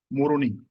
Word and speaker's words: Moroni: It is Moroni. So it rhymes with the name of the country itself, Comoroni.